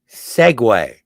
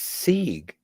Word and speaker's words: Segway: things cat what what Segway take long pauses what were you saying no when it's not pronounced sieg it's Segway whatever I don't really